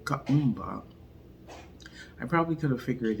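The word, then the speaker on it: Kuumba: you about day 6 of Kwanzaa, which is pronounced Kaumba. Kaumba.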